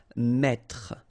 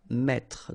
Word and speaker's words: mettre: That's the reason why you will pronounce mettre, mettre. Don't insist on the final E.